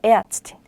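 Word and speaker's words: Ärztin: 모음 다음에 이렇게 에가 오면요. 이 모음이 리을 발음보다는 어에 가깝게 발음이 돼요. 그래서 에르츠튼이라고 읽지 않고요. 에아츠틴이라고 읽는 게 더 가깝습니다. 에아츠틴.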